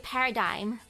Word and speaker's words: paradigm: Oh, it's a paradigm. Silent G somehow.